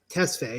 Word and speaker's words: Tesfaye: Tesfaye, yeah, because there's nothing between S and F.